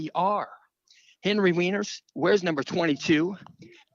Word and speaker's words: Weiner: They're going to pronounce it Weiner. It's Weiner.